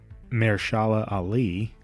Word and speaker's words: Mahershala Ali: Now, of course, this was going to be the Blade film with, I'm going to butcher this guy's name, Mahershala Ali. I think that's how you say it.